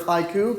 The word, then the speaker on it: HYCU: Hi everybody, CEO, founder of HYCU. Can everybody hear me okay? Yep. All right. HYCU stands for Hybrid Cloud Uptime. We do pronounce it like the haiku poem.